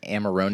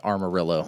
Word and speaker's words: Amarone: So, this is Conviction Amarone cask. Amarone del I'm glad that Valpolicella. you pronounced Amarone because I was just going straight with Armorillo.